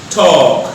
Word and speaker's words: talk: The L is not pronounced. It's talk.